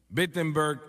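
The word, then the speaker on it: Wittenberg: iglesia más grande en bettenberg Alemania o no perdón empieza con una W pero se pronuncia como una B bettenberg Alemania y clava sus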